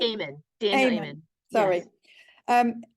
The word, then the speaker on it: Amen: Daniel, how do you say his Amini? Amen.